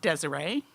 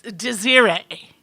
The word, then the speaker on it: Desiree: African woman named Desiree now her name was spelled like I thought Desiree she was always quick to point out that no it's de xira that's like okay and